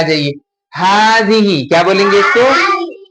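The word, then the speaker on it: هذه: हाजिही, क्या बोलेंगे इसको? हाजिही। और इसको क्या बोलेंगे? हातानी, क्या होगा इसका प्रोनाउंसिएशन?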